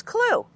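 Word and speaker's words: CLWE: the four steps is c l w e pronounce clue clue stands for condition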